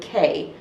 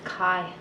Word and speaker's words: Kai: And one of the shards happens to fall in the eye of a young boy named Kay. It's Kai. Kai? It's Kai. Kai. It's pronounced Kai.